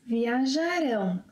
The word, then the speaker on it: viajarão: Vocês, eles, elas viajarão. So the stress is in the last syllable. Viajarão.